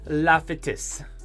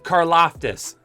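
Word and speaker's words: Karlaftis: go with george carr la fetis okay i didn't say it right there george carloftus carloftis george carloftus from purdue we're going to be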